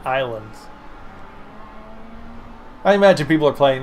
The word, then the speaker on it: Ylands: It's YLANDS. Y-lands. But they pronounce it islands.